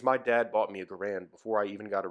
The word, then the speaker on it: Garand: contention if we don't the appropriate pronunciation due to all my research is actually garand but it's been garand for me for so long that it's gonna remain so so it was the